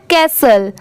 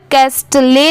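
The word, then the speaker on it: castle: ठीक है ये है कैसल कैसल ठीक है यहां पर कैस्ट ले नहीं पढ़ेंगे यहां पर टी लेटर साइलेंट है सिर्फ इसे क्या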